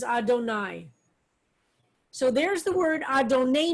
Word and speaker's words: Adonai: haven't said so far the yudhi vauvey i've told you is the four-letter name of god but traditionally we pronounce it as adonai so there's the word